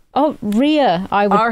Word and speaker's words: Rhea: is it e oh Ria I would pronounce that as Ria r right oh like diarrhea like diarrhea yeah so she's she's